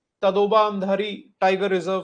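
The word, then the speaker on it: Andhari: I always use to pronounce it एज अंधेरी. मुंबई में अंधेरी है तो मैं उसको अंधेरी प्रोनाउंस करता था हमेशा. मैंने कल चेक करा अच्छे से pronunciation, the Hindi pronunciation, it इज अंधारी.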